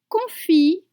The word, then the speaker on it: confit: Confie de canard, pomme, grenaille. Grenaille. You have the eye sound. Again, don't pronounce the consonant at the end of confit and canard.